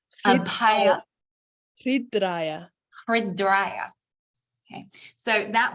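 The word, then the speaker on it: अभय: Then we showed you, give me the pronunciation again. Oh, Abhaya. Abhaya.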